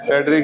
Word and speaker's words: Friedrich: in 1828 when Friedrich Wöhler, FRIED रिच के spelling आते हैं करीबो, लिख लो, फ्रेडरिक ही हुआ, वूलर, WHLER, वूलर, WO, बोला एच